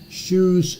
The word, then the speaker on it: Sherrouse: Cherus is spelled SHERROUSE.